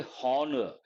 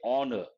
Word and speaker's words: honor: here we don't say horor H is silent we say honor based on that here